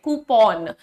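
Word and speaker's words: coupon: डू we call it अ कूपन pawn ये ओ का मात्रा आप उसको काउंट कर लें कूपन सो कूपन वाउचर जो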